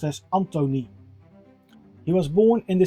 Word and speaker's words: Antoni: His first name is pronounced as Antoni.